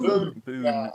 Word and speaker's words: bone: Off the top of my head, I think Boone, yeah. Boone. Excellent. I was To going rhyme with soon.